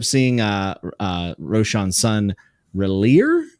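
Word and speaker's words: Rillir: uh uh Roshan's son relier I think is how you would pronounce it and that's heartbreaking for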